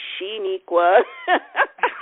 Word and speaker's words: Sheniqua: n I qu a my mother is the only one that pronounces my name correctly I always you know should equal but it's actually Shaniqua my mother says it perfectly but however you call